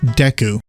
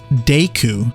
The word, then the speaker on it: Deku: voiced by Patricia Summerset, says Deku, like daytime, Deku.